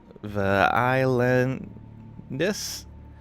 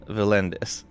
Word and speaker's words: Valendis: To complicate matters, you adopted the nickname uh VI because some uh Americans on Twitch uh called you spelled out phonetically islandis rather than Valendis.